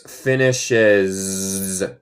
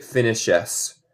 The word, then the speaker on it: finishes: Y se pronuncia esto como una abeja. Es finishes. No se dice finishes. El S aquí es más como z.